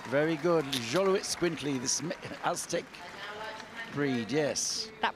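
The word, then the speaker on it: Xoloitzcuintli: And then representing the import register, we have the Xolo Itz Quintly. Very good. Xolo Itz Quintly, this Aztec breed, yes. That pronunciation could have gone either way, Frank.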